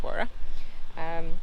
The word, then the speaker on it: Warroora: 14 mile warra station spelled differently but it's pronounced warrer there are some really